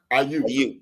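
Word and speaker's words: Brandon Aiyuk: Am I pronouncing it right? The wide receiver for San Francisco, Brandon. Ayuk.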